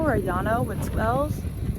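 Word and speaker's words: Llano: Lano or Yano with L's. It's pronounced like Spanish word Yano or Lano.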